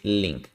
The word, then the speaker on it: LINQ: ¿Qué es link y cómo funciona? También es conocido como LINQ, pero realmente la pronunciación es link.